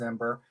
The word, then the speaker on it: Mbur: We get all kinds of pronunciations on that, but it is Ember.